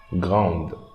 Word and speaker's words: grande: Okay, and here we are not going to pronounce the I, but instead we pronounce the D before I. So, grande, grande, grande.